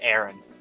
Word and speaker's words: Erin: It can be pronounced Aaron, but spelled with an E instead. How's that?